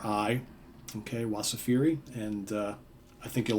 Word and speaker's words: Wasafiri: but if you go check them out again it's spelled w-a-s as in Sam a f is in Frank i r i okay wasafiri and uh I think you'll like this if